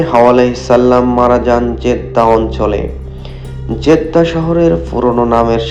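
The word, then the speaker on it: جدة: মনে করা হয় হাওয়া আলাইহিস সাল্লাম মারা যান জেদ্দা অঞ্চলে। জেদ্দা শহরের পুরনো নামের সাথেও এই ধারণা জড়িত। জেদ্দা শহরের আরবি উচ্চারণ জাদ্দা যার অর্থ দাদী।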